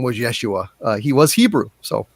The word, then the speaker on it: Yeshua: stuff uh he says his actual name was pronounced yeshua so it is not uh jesus is an anglicized uh pronunciation uh his name was actually yeshua yes so just uh just to give you